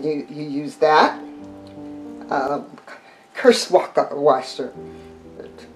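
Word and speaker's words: Kirschwasser: you use that um curse waka washer is the german pronunciation for it and um okay the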